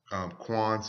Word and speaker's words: Qayin: Now, again, when you look at Qayin's name in Hebrew, this is another Hebrew word, and it is pronounced Qayin also.